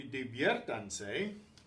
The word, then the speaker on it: diviértanse: First of all, we've conjugated the verb and the stress falls on this syllable, so the E, the stronger vowel, gets the accent to keep that syllable stressed.